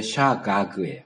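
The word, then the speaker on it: שגג: 그러니까 이게 기멜이 제일 끝에 나와 있는데 기멜을 기역 받침해갖고 각이라고 했는데 그렇게 발음하지 않고요. 샤가그예요. 가그. 샤각이 아니고 샤가그. 네, 그게 정확한 발음입니다.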